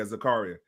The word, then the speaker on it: Zakaria: Zachariah? Did I pronounce that right? Zachariah? It looks like Zakaria Khan. Maybe Zakaria. Oh, yeah, Zakaria. Zakaria. It is Zakaria. I said Zachariah.